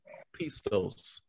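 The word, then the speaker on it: πιστός: Like the Greek word is here, but it's pronounced in English or Greek, pistos.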